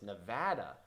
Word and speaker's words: Nevada: but it says apparently the only acceptable pronunciation of the state is Nevada not Nevada pronouncing the state's name incorrectly